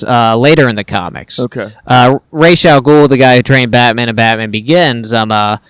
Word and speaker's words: Ra's al Ghul: And my girlfriend, she reads Arabic, and she was like, oh, it's pronounced Ra's al Ghul.